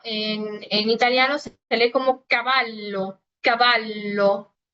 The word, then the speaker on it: cavallo: Pero, pues para nosotros la doble L no es más que una L normal con lo que es una pronunciación un poquito más marcada y larga. Por eso caballo, caballo. Nunca se va a leer como en el español, ¿ok? Si ustedes me lo leen como caballo, está mal, ¿ok?